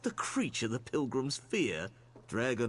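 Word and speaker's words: Dreugh: I just realized that Drug is pronounced Dreg because of this NPC. We call it Drowax. It's not Drowax, it's Dregwax. I've never heard anyone that plays this game pronounce it Dreg.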